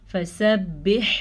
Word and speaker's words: فسبح: ہا کا دھیان رکھنا ہے، فسبح بسمی، با زیر سین بس، میم زیر می، بسمی. ہا پہ ساکن ہے تو مخرج اور زیادہ کلیئر ہو جاتا ہے.